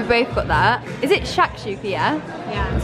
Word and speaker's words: shakshuka: Is it shakshuka, yeah?